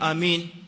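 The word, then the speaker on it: آمين: Miongoni mwa makosa yanayofanyika katika masala ya amini kosa la kwanza ni kuitamka amini yenyewe inatamkwa kimakosa kwa baadhi ya watu wanaitamka amin kwa tashid tashidid mim kwa hivyo wanasema badala ya kusema amin wanasema amin tashid w kwa sababu hii inabadilisha maana ya Amin. Ukileta tashdid katika mim inakuwa maana ya amin ni kasidin.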